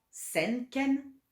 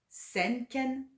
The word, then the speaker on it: senken: Donc 100 ken, 200 à 4 ken, à 4 ken, à 4 ken, 300 sen ken, sen ken, sen ken, 400 torken, torken, torken, 500 mekken, mekken, mekken,